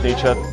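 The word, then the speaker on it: Nietzsche: What would Nii think if you ever pronounce it nichi in front of me?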